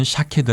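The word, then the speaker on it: שָׁקֵד: 단어와 유사한 발음을 가졌습니다 살구나무 는 샤 케 드 라 발음하고 지켜보고 계신다 라는 뜻은 쇼 케드 라는 단어를 사용합니다 또 가지에 해당하는 단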